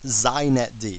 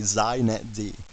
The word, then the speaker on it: xinetd: First, it's pronounced zet D. So if you want to be hip, you say zet D.